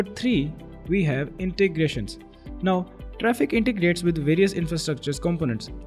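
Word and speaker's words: Traefik: as not traffic but it is pronounced as traffic now if you were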